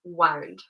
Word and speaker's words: wound: So make sure you pronounce it like wound. Okay, it rhymes with round.